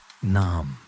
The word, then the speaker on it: name: The word name was once pronounced more like naam, rhyming with modern calm.